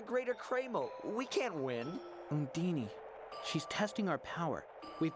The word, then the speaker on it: Undine: Yeah, he's saying it like it rhymes with Houdini. Oh, like, I'm pretty sure that's not how you say that at all.